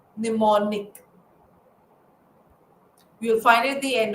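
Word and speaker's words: mnemonic: It starts with an M. M is silent. Pneummonic.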